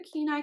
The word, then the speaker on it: Kenai: the the Kenai color I think right Kenai this is the Keen Eye colorway what's up fuzzies it's